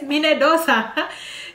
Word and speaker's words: Minnedosa: And there's another one called Minnedosa. I know it rhymes with Minnesota, but this is Minnedosa.